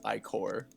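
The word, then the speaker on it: ichor: I think I learned with Matt when he he realized like er wasn't pronounced. It's I core.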